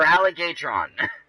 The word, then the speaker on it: Alligatron: And yes, for anybody that looked at my name and didn't know how to pronounce it, that is how you pronounce it. For Alligatron.